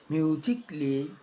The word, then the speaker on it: musically: Now, the A can be silent, especially in words that end in A-L-L-Y, like this. Romantically, musically, logically. So I am not pronouncing romantically, musically, and logically.